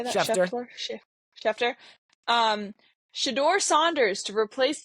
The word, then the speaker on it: Schefter: Schefter.